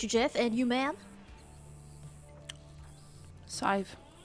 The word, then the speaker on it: Sadhbh: Sadhbh. Sadhbh?